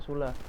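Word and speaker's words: Süle: Bukan Sule, bacanya Sule.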